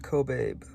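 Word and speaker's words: Kobabe: check for pronounciation um it's pronounced cobab so when lome I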